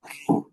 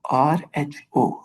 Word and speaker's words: rho: it's a Greek letter rho, R-H-O, rho. Okay, Mm-hmm. so we cannot pronounce it as P.